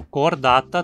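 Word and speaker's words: Chordata: No filo cordata temos a terminação ata, que sempre tem o primeiro A longo e, como ele cai na penúltima sílaba, a palavra é sempre paroxítona, como também em hemicordata, lofoforata e equinodermata?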